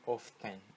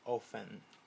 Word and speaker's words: often: Nessa palavra eu não pronuncio o F, não é often, é often. Sorry, eu não pronuncio o T, né?